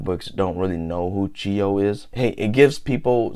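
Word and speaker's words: Chiyou: Or I don't know how to pronounce it in Mandarin, but the way we pronounce it in Hmong is Chiyo, which is literally the first and last Hmong King.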